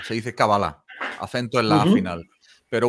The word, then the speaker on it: cábala: hebreo se dice la cábala se dice cábala acento en la final pero bueno en castellano si te fijas es una palabra esdrújula se ve escrita como cábala acento en la primera no y a partir